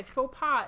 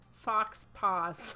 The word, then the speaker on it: faux pas: Which, by the way, faux pas is another word I mispronounced for a very long time. I used to call it fox paws.